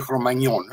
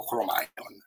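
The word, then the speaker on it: Cro-Magnon: e il cromagnon e molti mi fanno notare si dice cromagnon no io lo dico all'italiana dico cromon cioè Abbiate pazienza perché devo pronunciare alla francese che mi stanno pure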